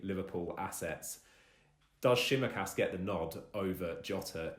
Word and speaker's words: Tsimikas: this issue of, I'm going to try and pronounce his name, Tsimikas. I think that's how. Yep. Tsimikas.